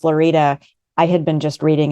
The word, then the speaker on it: Lorida: I was like that just dropped the f in Florida I was like no really it's lorida Florida so then for